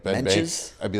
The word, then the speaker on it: Bankas: And then he's like, "This is my favorite comedian, Ben Barkas."